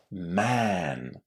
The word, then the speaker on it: man: It's pronounced in exactly the same way as the vowel in the word cat or bat or bad man.